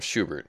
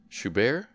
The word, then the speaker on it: Schubert: Today's program, Schubert, three piano pieces. Interesting. Schubert. Schubert? Is it like Sherbert? Or Schubert, however you want to pronounce it.